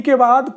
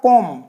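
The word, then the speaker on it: comb: कैसे जैसे हमने लिखा कॉम तो कॉम मिंस क्या होता है कंग अब ये बी आया बी बोला नहीं जाएगा हम कहते हैं कब नहीं कॉम सीधा-सीधा बी बिल्कुल साइलेंट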